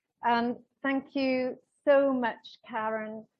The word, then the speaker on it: Karen: I'm pronouncing it wrong, Karen, because I know your mother deliberately gave you this name with a K-A to be pronounced as a hard K-A, so to open up our hearts.